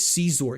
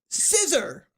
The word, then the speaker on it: Caesar: He says Caesar. He doesn't go, scissor.